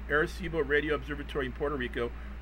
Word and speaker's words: Arecibo: I looked up how to say this to Arecibo Arecibo radio Observatory in Puerto Rico built into a